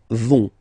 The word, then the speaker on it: vont: And the last persons, ils, elles, vont. Ils vont, elles vont. Okay, remember, final T not pronounced, so you get this ON nasal here. On, vont.